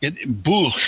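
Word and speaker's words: Bwlch: Yeah, well, Bulch, the W comes out like OO, and okay, yeah, like OO and boo.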